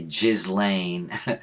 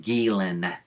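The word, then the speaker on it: Ghislaine: And she also mispronounced Gilen. It's, uh, she would say Jizlane. She So does uh, Jimmy Door. He says Jizlane.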